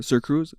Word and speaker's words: SirXCruz: is going to be sir Cruz sir X Cruz with the x is silent obviously with my name